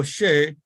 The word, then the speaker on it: Shea: My name is Father Shea. My last name is pronounced like O'Shea without the O.